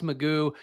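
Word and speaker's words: McGough: So it was bad luck, but also that where Alex Magoo, his name apparently is Magoo, despite being spelled like Mago, which really threw me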